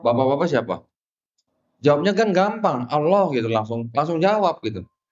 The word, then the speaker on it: Alla: juga menggunakan kata Allah tulisannya a l l a saya bacanya Allah karena di ini enggak pakai tasdid i ya enggak ada tasdidnya ya enggak ada tasdidnya jadi bacanya Allah mereka menggunakan kata Allah